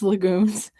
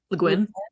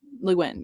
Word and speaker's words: Le Guin: my historical fiction, desperately trying to channel Miss Legume's. Is that how you say her name? Le Guin. Le Guin, yeah.